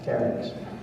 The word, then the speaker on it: Carricks: Is it Carricks or Sharks? Carricks.